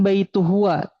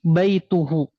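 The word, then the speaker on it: بيته: Jangan baituh tapi baituhu.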